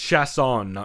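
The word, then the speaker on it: Chiasson: this entire time it's chess on chefs own is the only difference and that's because it's the New Orleans pronunciation not the French pronunciation of chess on so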